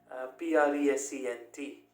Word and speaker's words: present: e n t now this word is pronounced in a different way as a noun and in a completely different way as a verb as a noun it is present i gave him presence